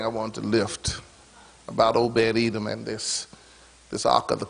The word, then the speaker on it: Obed-Edom: Obed-Edom. If you don't be careful, you'll mispronounce it. Obed-Edom. But even if you call them Obad Edom, God is going to be at his house.